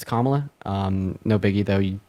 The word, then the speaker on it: Kamala: thought I to say her name is pronounced um Kamala saying that to me yeah it's it's kamla um no biggie though